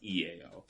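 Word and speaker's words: IAO: to be an i a o but it's pronounced ea um and the way it works it's three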